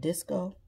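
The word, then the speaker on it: Disque-O: I think it's called Disco. It's spelled like disc, DISQUE dash O platform.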